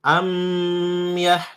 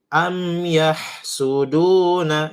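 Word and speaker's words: أم يحسدون: Mim sukun ketemu ya. Cepat masuk tidak boleh lama mimnya. Jadi jangan amyah tapi am yahsuduna.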